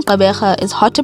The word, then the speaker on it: Gqeberha: reason for this is that firstly the name caberha is hard to pronounce especially for those who do not speak